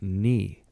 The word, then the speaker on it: knee: a space between us stopped pronouncing the K in the word knee well I yeah they